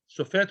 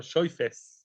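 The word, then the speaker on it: שפת: another word says hirosh shafat with a tough at the end or shayfest in ashkenazi pronunciation means to place to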